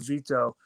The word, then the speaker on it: Vito: his name I'm sorry how do you say his name again uh Vito Vito you guys call him veto but um yeah no